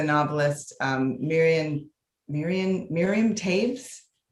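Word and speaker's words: Toews: um miriam miriam miriam tapes her name is t-o-e-w-s but it's pronounced tape so you might recognize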